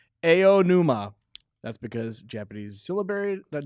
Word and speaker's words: Aonuma: oh, Even when next to other vowels, they don't change, unlike English. So, Interesting. anuma is pronounced aonuma.